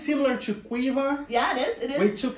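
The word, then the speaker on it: Caoimhe: I feel it's similar to Quiva.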